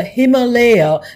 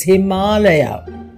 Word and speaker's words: Himalaya: give any Foreigner who calls the mountains the himaya the same advice go to YouTube and listen to how we pronounce our Sanskrit word it's Himalaya you can always write to me at p55